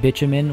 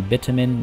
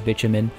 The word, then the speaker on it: bitumen: It'll be transformed into fuel and bitumen, which, yes, that is how you pronounce it. I know, B-I-T. You would expect it to be bitumen. No, it is bitumen.